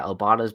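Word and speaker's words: Obada: Yeah, Obata.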